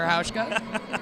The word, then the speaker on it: Hauschka: Hauschka. Rhymes with Ouchka.